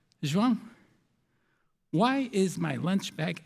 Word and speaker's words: João: And so my teacher asks me, hey, João, that's the right way to say it, João.